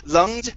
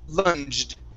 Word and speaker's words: lunged: Instead of lunged, it's lunged.